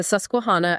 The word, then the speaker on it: Susquehanna: Specifically, the Susuana River. And let's try to get the pronunciation right for you. The Suscuana at Hover Grace, Maryland.